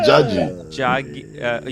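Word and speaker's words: 자기: And Jagi means honey. Okay, you can say Jagi or Jagi. Jagi. You have to say it like this.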